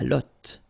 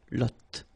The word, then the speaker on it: lotte: And then la lotte, final E not pronounced, lotte, lotte. Okay?